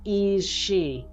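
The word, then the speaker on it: aos sí: in their own hidden realm the ioc is pronounced e She during the Middle Ages belief in supernatural beings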